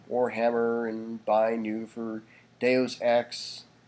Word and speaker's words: Deus Ex: You see the little buy new there for Warhammer and buy new for Deus Ex. That's how you pronounce it, folks, by the way. Don't say Deuce, it's Deus, thank you.